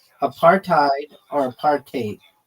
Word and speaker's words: apartheid: It's pronounced a partate or a partate with a bit of a Dutch style hide at the end like height with a D.